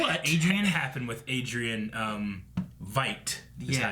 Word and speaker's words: Veidt: I don't know what Adrian happened with Adrian Veidt is Yeah. how you say it. Like invite. Okay. Not vet. I keep saying vet.